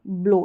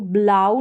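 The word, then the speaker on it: blow: हुआ है वो और यह ब्लो इसको ब्लाउ नहीं पढ़ेंगे यानी यह वाला आऊ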